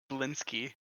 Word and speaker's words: Blinsky: they didn't um the the S comes before the K so it's blinsky yeah okay blinsky but